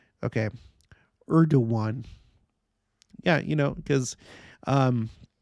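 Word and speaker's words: Erdoğan: read this out loud erdogan is pronounced er do one okay Urdu one yeah you know because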